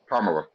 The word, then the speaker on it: Kamala: uh Ka a so Kamala Kamala Kamala is that better um yes accent the the KA and it's only racist